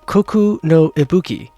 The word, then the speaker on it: Koku no Ibuki: It has come to my attention that this ship, the Koku no Ibuki, that is how it is pronounced, in the Moon Elf language.